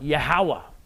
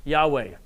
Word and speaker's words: Yahweh: something called the tetragrammaton it's four hebrew consonants that in english would transliterate to yhwh it's almost like a breath yahweh those are probably most likely the vowels that should be provided most likely pronounce it as yahweh jews in the modern